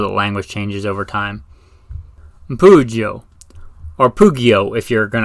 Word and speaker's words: Pugio: The Pugio. Now, if you don't know the Pugio, or Pugio, if I want to say it like an Italian, or I guess an ancient Roman.